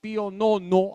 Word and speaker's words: Pío Nono: esto es dogma de fe ejemplos más recientes Pío Nono así se escribe Pío romanos se dice pío Nono acuérdense